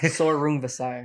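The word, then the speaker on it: Srisaket Sor Rungvisai: a 5-day notice for Suriski Sarongvisai. Sorungvisai. There you go. Is how you say it.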